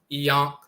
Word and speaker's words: Ankh: derived from Ankh, and the Ankh is pronounced Iyonk, Iyonk, like in the Coptic dialect. Instead of Ankh, it's Iyonk, Yonk.